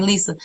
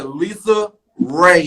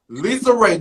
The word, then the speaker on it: LisaRaye: all hear and see anybody call me Lisa, can you correct them for me, please? I sure So we will. can all unite on that and say my name Lisa right.